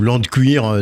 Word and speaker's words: LandQuire: et CER comme achet ouais c'est ça ou land de cuire si on veut le faire à la prononciation française l and Cu .com merci beaucoup